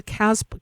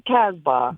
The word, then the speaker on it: Casbah: life so um yeah enjoy Sunday Rock to Casp say it for me I know I'm not saying it correctly Rock the Casbah there you go Casbah yeah yeah Rock the